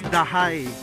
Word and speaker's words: Dajay: So, ang tamang pag-pronounce nga pala is Dahay.